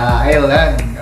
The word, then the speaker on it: island: Iya, S-nya tuh gak dibaca. Island.